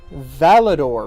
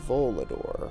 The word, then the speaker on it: volador: If anyone speaks Spanish, can you tell me what Valador means? I'm going to start pulling it up over here in case no one speaks Spanish. Valador. Is that how it's spelled? It's Volador. Flying type.